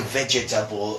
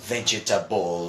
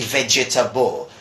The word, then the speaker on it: vegetable: They try to say vegetable, but actually the pronunciation this is vegetable. Vegetable. Right? It goes, it's smaller, it's easier to handle, let's say.